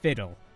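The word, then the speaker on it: FIWDWHL: Fiddle, or F-I-W-D-W-H-L, I pronounce it fiddle, means fuck it, we'll deal with HR later. And that is basically the strategy that we have been pulling on our warehouse.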